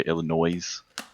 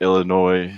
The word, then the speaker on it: Illinois: how other people say illinois even though the s is silent um but illinois chicago area so from